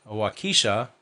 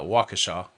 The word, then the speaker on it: Waukesha: uh waukesha i i'm getting text messages correcting my pronunciation of wakisha it's uh waukesha um sorry about that